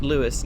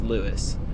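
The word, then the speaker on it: Lewes: Calling at le just calling it Lewis next. I know it's looks like it should be pronounced L E W S. It's spelled like it should be pronounced le instead of Louiswis, but it's pronounced Lewis.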